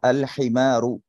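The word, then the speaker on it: الحمار: উচ্চারণ করব আলজামালুম আচ্ছা এরপর দেখি হা দিয়ে যদি কোন কালিমা শুরু হয় তখন সেটাতে আলিফ লাম যুক্ত করলে আমরা অবশ্যই আলিফ লাম উচ্চারণ করব আলহিমারু এটা যেহেতু আমাদের সাথে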